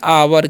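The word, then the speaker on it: hour: हैं, इसे पढ़ते हैं आवर, क्या पढ़ते हैं जी, आवर, यानी कि ओ के साथ यू है, तो यहाँ पर ओ का उच्चारण क्या हो रहा है, आओ हो रहा है।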